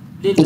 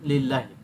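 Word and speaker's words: لله: জার যখন লাম যোগ আল্লাহ আসে তখন আলিফটা সাইলেন্ট হয়ে যায় এজন্য হয়ে যায় কি লিল্লাহি লিল্লাহি এজন্য হয়ে যায় কি লিল্লাহি তাহলে আল্লাহর স্ট্যাটাস কি আল্লাহর সাথে জের জের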